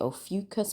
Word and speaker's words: Ophiuchus: Some people pronounce it Ophiuchus, but I like Ophiuchus better.